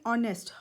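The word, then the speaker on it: honest: इधर गैस करें क्योंकि इसमें साइलेंट होता है हमेशा हम इस वर्ड को बोलते हैं ऑनेस्ट ऑनेस्ट नहीं बोलते तो अन और यानी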